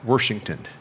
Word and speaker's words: Washington: If you live there, you have to put an R in it, Washington. The official pronunciation if you're in Southern Indiana.